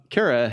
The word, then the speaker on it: Kara: My guest today is Kara. How are you doing? I'm doing terrific. How are you? Did I get Kara right? You got it right. Kara rhymes with Sarah.